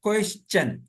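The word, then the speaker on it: question: national कौमी मेंशन तरा अगर किसी वर्ड में एस के बाद टी आई ओ एन आए या किसी वर्ड में टी के बाद एस यू आर ई आए तो टी का तल चा होगा इसको न में रखे ए भी जो है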